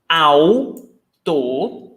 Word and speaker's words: autor: Autor, 2 syllables. Au, diphthong, autor, the writer.